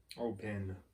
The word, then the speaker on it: Oban: Oban. It's Oban? I-N. Oban? It says A-N on it, but they pronounce it I-N.